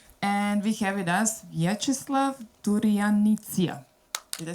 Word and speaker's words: Vyacheslav Turyanitsia: Name of Ukraine, and we have with us Vyacheslav Turyanitsia. Did I spell it? Hi everybody, my name is Vyacheslav Turyanitsia and I'm a filmmaker based in Kyiv, Ukraine.